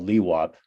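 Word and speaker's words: LIWAP: be eligible for the it's called li wap is how we pronounce it so that's kind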